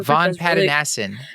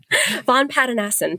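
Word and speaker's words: Vongpatanasin: I cannot pronounce her last name, unfortunately, but she's at University of Texas Southwestern, and her Von Pattanassen. Thank you. You're amazing. Von Pattanassen, thank you.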